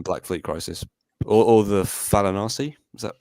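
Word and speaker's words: Fallanassi: from Black Fleet Crisis, or the Falanasi. Is that how you say it? yeah, Falanasi.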